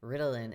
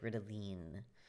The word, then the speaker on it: Ritalin: my medications in German, because Ritalin is not the way you say Ritalin here. It's like Ritalin.